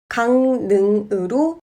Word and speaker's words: 강릉: 강릉은 강릉으로 발음합니다.